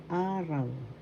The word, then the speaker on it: araw: So first syllable a, second syllable raw. The first syllable has the accent araw.